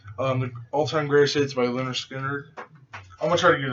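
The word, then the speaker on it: Lynyrd Skynyrd: The All-Time Greatest Hits by Leonard Skinner. I'm gonna try to get a few of their albums, it's pronounced Leonard Skinner, and then also Second Helping. I might get to. The Best of Leonard Skinner, 20th Century Masters.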